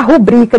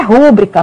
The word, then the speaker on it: rubrica: Paro para dizer que a palavra certa é rubrica. Ela é a palavra paroxítona, ou seja, a sílaba tônica é no bri. Não é rúbrica. Pelo amor de Deus, não digam rúbrica. É rubrica.